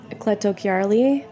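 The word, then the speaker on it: Cleto Chiarli: for me I mean can you Rec yeah cletto Kari spell c l e t o n c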